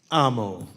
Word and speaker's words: Amo: Amo.